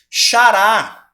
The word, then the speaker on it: xará: Xará. Tá certo? Que é o xará, gente? Xará. Eu estendi a última sílaba tônica. A última sílaba. Então, é a última sílaba que é a tônica.